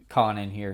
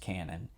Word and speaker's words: Kanon: So Kyoto Animation liked adapting visual novels, and Kanon here is no exception. I actually think it's pronounced canon.